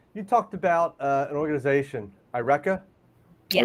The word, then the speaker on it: IRECA: I think so you talked about an organization, IRECA? Yes. IRECA.